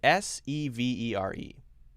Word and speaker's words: severe: The last one is a two-syllable word. Severe, severe. So actually, it's quite a bit different.